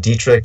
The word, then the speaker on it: Dietrich: is spell and my surname Dietrich you just put the words diet and rich together di e t RI